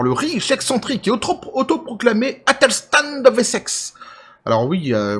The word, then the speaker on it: Athelstan: riche, excentrique et autoproclamé Athelstan de Wessex. Alors oui, moi je ne dis pas le TH en anglais, ça me gonfle prodigieusement, donc je le dis à la française, Athelstan de Wessex.